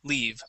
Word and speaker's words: leave: long e so uh this is going to be a long e sound okay I'll take your leave now leave I'll take your leave